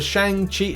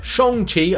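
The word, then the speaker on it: Shang-Chi: some arena results for shang chi so shong chi i should say it right before people kind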